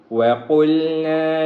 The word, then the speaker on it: وَقُلْنَا: بسم اللہ الرحمن الرحیم، وَقُلْنَا يَا آدَمُ اسْكُنْ أَنْتَ وَزَوْجُكَ الْجَنَّةَ۔ وَقُلْنَا، قاف کو موٹا کریں گے، یا آدم اسکن، یا